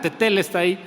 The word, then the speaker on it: tetelesthai: con jugada esta palabra se se pronuncia de esta manera tetel está ahí esta palabra se encuentra